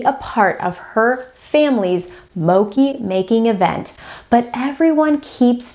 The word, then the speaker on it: mochi: know that I mispronounced mochi 5 times in this video, and I am really sorry about that. It is mochi, not mochi. Mochi. All right, carry on.